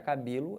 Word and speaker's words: cabelo: Então, a sílaba tônica da palavra cabelo é o B.